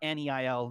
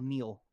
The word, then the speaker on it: kneel: He did not NEIL kneel.